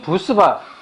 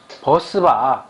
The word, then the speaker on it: bus bar: 버스바. 우리끼리라도 버스바라고 꼭 얘기해주자. 부스바. 부스바. 버스바. BUS 발음해봐. 그러면 버스. 다 버스라고 해놓고 이렇게 붙여놓고 부스바가 웬 말이니 이게.